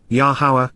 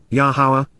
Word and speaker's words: Yahowah: his fire and brand Beth 1313 so w yahwah yahwah the proper pronunciation of the name of our eloa God